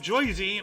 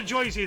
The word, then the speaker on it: Jersey: maze on island of joisy might be world's largest did you just pronounce Jersey like a jerseyan uh yes I did it's a joisy thing hey we have a